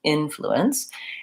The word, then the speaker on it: influence: typically means is that the in is going to be a little bit longer influence is going to be a little shorter influence the IPA or the sounds in this word are vowel it as in it and did the N the flu influence and then I think it's kind of a it's unstressed here at the end influence so long short short and a good way